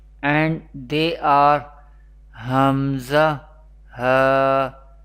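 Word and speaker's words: ء: Hamza and Ha, Hamza and Ha, pronounced from the bottom part of the throat.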